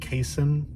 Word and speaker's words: casein: and 2 scoops of, I believe it's pronounced casein protein, micellar casein.